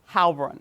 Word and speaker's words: Heilbrun: But tell me about Carolyn, how do you pronounce her last name? Heilbrun. Heilbrun, whom you met at Columbia.